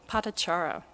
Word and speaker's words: Patachara: And one other story from this book is that of Patachara.